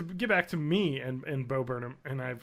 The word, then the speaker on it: Bo Burnham: so hard, is that I have purposely mispronounced his name a lot because I think it's funny. I call him Bob Yurnham, and every time I want to say his name, I want to say Bob Yurnham, because I've done it so much. I've trained myself into saying it wrong, so I'm always just